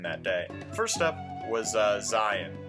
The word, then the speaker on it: Zion: First up was Zion. And apparently that's actually how you pronounce it, not Zion.